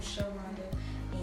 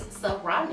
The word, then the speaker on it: Saronda: I have a cousin named Sharonda, and I know a young lady that went to school with named Sharonda, and that is not me, guys. No, she is Saronda.